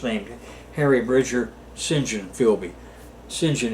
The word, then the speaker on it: St John: Harry Bridger singen philby singen is the way they pronounce St John don't ask me why